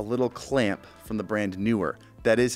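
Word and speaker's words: Neewer: This is a little clamp from the brand Newer. That is how you pronounce it, by the way.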